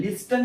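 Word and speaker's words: listen: अस म्हणतात आय लिसन एल आय एस टी एन ती silent आहे त्याच्यामध्ये लिसन स्पेलिंग आहे पण उच्चार काय लिसन आय लिसन to music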